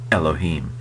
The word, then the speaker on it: Elohim: and so you know if we were to do it right we might slightly constrict our throat when we say it Elohim just a little kind of gladle stop it's called where you kind of constrict your throat a little before you say the e in Elohim uh so it's not